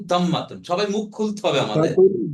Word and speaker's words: ضمة: দম্মা। দাম্মাতুন। মাশাআল্লাহ, দাম্মাতুন বা দম্মা। সারা। দম্মা, ঠিক আছে? তাহলে কি হলো? রাতুন। ফাতহা, কাসরা, দম্মা। বলেন। দাম্মা। ফাত- জি, দাম্মা। ফাতহা, কাসরা, দম্মা। ফাতহাতুন, কাসরাতুন, দম্মাতুন।